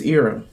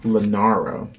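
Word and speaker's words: Eira: the snake yeah I know how do you pronounce it it's era era era e i r a era that's how I pronounce it I was thinking Lara my bad okay so this is era and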